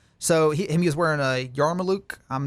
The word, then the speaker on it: yarmulke: So he was wearing a yarmulke. I'm not too up on my... Yarmulke. That's how you pronounce it.